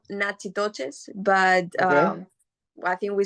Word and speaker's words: Natchitoches: So it's spelled Natchitoches, but Okay.